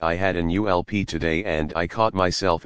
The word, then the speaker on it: ULP: by its acronym ulp they pronounced it as in gulp one of the group's members said he remembered comic book characters saying ulp when they encountered something